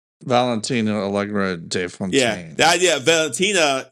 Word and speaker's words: Valentina Allegra de Fontaine: Valentina Allegra de Fontaine.